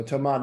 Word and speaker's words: Thomas: so Thomas does not pronounce the S in his first name, but I believe he pronounces all the S's in his last name.